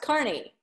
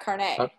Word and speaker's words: Carney: up there Oh Carney it's pronounced Carney not Carnegie Oh Carney Carney anyway